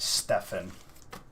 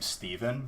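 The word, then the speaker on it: Stephen: People who spell their name with a PH, like Steven, and it's not pronounced Stefan with a PH. They're like, no, dude, it's pronounced like Steven.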